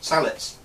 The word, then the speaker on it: sallet: So yeah, moving on, sallets. I have three sallets. Pronounced sallet, not sallet. This is a British word, not a French word.